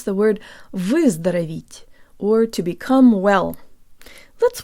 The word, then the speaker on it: выздороветь: Jaw slightly forward, tip of the tongue behind the bottom teeth, lips rounded and protruded.